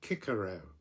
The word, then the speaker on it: Cicero: And equally, the the Romans, with names like Cicero, they would have pronounced it Kikero.